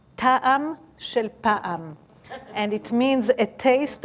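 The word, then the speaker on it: טעם של פעם: It's very simple and it rhymes. And it says, Ta'am shel pa'am.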